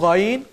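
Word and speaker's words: غ: আইনের পর হরফটি হচ্ছে গইন। এই গইন হরফটির উচ্চারণ আমরা অনেকেই জানি না, আমরা এটাকে গাইন বলে থাকি।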